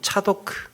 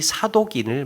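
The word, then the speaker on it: צָדוֹק: 히브리 발음으로는 차도크, 의로움, 체데크, 의로움이라는 뜻이에요. 사독, 차도크. 신약 성경에 등장하는 사두개인은 이 사독인을 말합니다.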